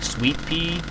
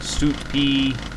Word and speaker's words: Suitpee: I always call it like sweet pea, as in the sweet, and then pea. But some people pronounce it like suit pea, as in like a suit sort of thing.